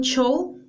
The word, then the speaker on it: show: Claro, aquí estamos usando una palabra, un extranjerismo, pero muchas veces no lo pronuncian tampoco correctamente. Sería iré a un show, pero lo pronuncian show, ¿no? Como una che, chancho.